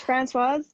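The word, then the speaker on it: Françoise: So my name is Francoise, but people can call me Frenchie if Francoise is too hard to pronounce.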